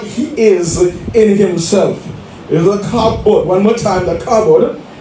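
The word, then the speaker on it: כבוד: And so when we talk about the glory of God, we are talking about the kabod, or the doxa. I'm going to spell that kabod, a Hebrew word, K-A B-O-W-D.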